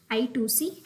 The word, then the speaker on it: I2C: one example is inter integrated circuit let us I to see bus the i2c why the name i2c is that it is pronounced ice pronounced two x and hence little